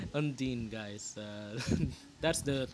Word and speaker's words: Undine: By the way, guys, for those of you who are pronouncing Undine, Undine, or whatever, it's Undine. It's Undine, guys.